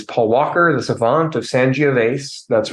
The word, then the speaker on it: Sangiovese: But I will correct Jeff on all the mistakes that he makes, including the word Sangiovese has an E on the end. You pronounce the E on the end of Sangiovese.